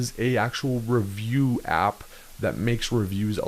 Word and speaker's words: Riviu: their activity is an app called Review, and it's spelled a little bit different, but we're going to go ahead and go into that right now.